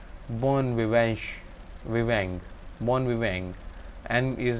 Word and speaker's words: bon vivant: always new the innova born we went to pronounce something like bon vivanche viveng mon viveng and is nasal similar to